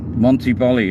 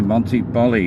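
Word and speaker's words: Montiboli: idiot doing a u-turn Monty Bali it's called oh there's a sign coming up this is a nudist speech here and there is hotels here there is a hotel there it's called Monty Monty Bali because I used to say Monty Bolly and you might see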